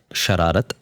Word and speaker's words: Shararat: Of course, very first thing the name is pronounced as Sharat and Sharat stands for mischief and that was the idea that uh because Chad Gypty was always too agreeable.